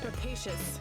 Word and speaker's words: rapacious: Rapacious.